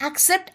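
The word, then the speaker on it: accept: उच्चारण एक्सेप्ट ऐसा करेंगे ए सी सी आई पी टी को हम एक्सेप्ट ऐसे बोलते हैं क्योंकि यहां पहले सी की आवाज के होती है और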